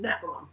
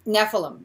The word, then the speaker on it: Nephilim: powerful Storyteller her book and I might pronounce mispronounce this nefilim Genesis of evil is that right it's Nephilim Nephilim Nephilim Genesis of evil has been compared to